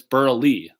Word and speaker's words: Berle: So I like to say it's like Milton Berle, the famous comedian, but it's Berle. The E is silent.